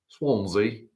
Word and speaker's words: Swansea: Swonzie. It's pronounced Swonzie. He's got a mouthful cookies.